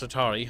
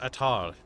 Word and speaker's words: Attar: Not House Atari, House Attar. Attar. A-H-T-A-R.